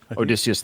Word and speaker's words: Odysseus: So we had, I think how you say his name, Odysseus, right? Odysseus? Odysseus, thank you.